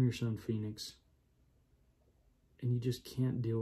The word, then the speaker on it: Fynyx: phoenix love phoenix but listen how it's spelled it is spelled f y n y x phoenix that's how i would say if somebody if i saw that i'll be like oh it's it's phoenix um or finitex that